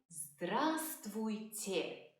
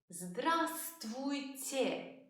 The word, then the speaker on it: Здравствуйте: You would say Здравствуйте. A very difficult word to pronounce, so let's break it down. Say те. Те. Say твуйте. Твуйте. Say здравствуйте. Здравствуйте.